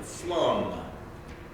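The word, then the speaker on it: Flåm: The first railroad took me up to the area where you take the Flum, a little A with a circle above it. It's pronounced like Flum Railway.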